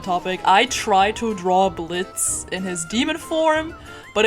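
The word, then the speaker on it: Blitzø: his name is blitz and the o is silent i've been a fan of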